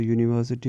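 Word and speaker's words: university: क्योंकि यूनिवर्सिटी को जब हम प्रोनाउंस करते हैं तो यूनिवर्सिटी में ये का साउंड आता है।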